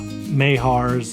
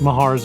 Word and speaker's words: Mahar: mahar's vintage guitars it's not mayhars it's not Mars I wouldn't have called it mahar's vintage guitars if Mahar didn't rhyme with kids I started buying and